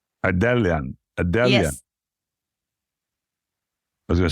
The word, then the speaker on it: Ardelean: enough Marinella and ellan I would say ellian adelan I was gonna say